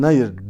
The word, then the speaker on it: Nayır: espri yapılır arkadaşlar Yaşar Nabi Nayır diye okunur ev kendi adıyla ya